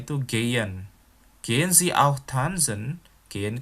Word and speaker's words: gehen: Oh ya, lihat ya, pelafalannya bukan gehen, tetapi gehen. Karena H di tengah itu nggak dilafalkan ya. Pelafalannya itu gehen.